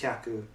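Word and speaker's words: 百: For example, 100 is hyaku, but when you say like 300, it's not san hyaku, it's san byaku, and the pronunciation of the kanji changes.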